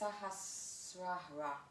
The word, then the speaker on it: Sahasrara: So I'll try and pronounce it in Sanskrit. It's Sahasrara.